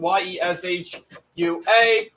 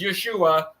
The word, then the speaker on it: Yeshua: pronounced Yu and we can spell it out ye s h u a we could pronounce it as o o y we can